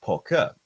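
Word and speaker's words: 扑克: For example, in China, we have this word, which is pronounced poker. Now, poker means card games, and it sounds a lot like poker, which is a card game.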